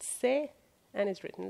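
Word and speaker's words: ث: of the letter S, which in Farsi is pronounced Se and is written like this.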